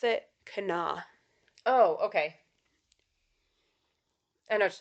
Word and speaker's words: Kanawha: me a voice message and was like we pronounce it Cana oh okay I know what you're talking about